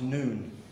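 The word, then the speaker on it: ن: This is the Arabic letter N, pronounced noon.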